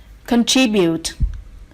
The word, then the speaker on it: contribute: Contribute. We have stress on the second syllable.